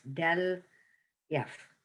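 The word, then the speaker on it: ∇f: Define the gradient vector del f, you pronounce it as del f, for a function f of 2 or 3 variables.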